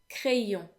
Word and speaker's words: crayon: They all end in O-N, which in French makes the vowel sound n. This sound doesn't exist in English, so just so you know, the way it's pronounced is pretty much like the sound O, but instead it is nasal.